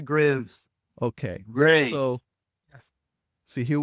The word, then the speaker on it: Graves: Did I say this name wrong? I really don't have a problem pronouncing it, but we pronounce it Graves.